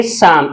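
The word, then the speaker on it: psalm: इसे पढ़ना है काम पी एस ए एल एम इसे हम पढ़ेंगे साम में पी भी साइलेंट रहेगी और एल भी साइलेंट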